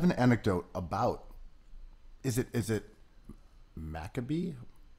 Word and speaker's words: Maccabi: So I have an anecdote about, is it Maccabee? How do you, what's yeah. the correct Yeah, well, pronunciation? In Hebrew you say Maccabi.